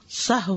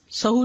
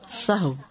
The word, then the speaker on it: سہو: کا فعل بھی ہے۔ سہو ہوتا ہے، سہو نہیں ہوتا، سب لوگ اپنا تلفظ بھی درست کر لیں۔ سہو جیسے لغو، ٹھیک ہے، کرب، نفس، سہو۔ سجدہ سہو کے اسباب،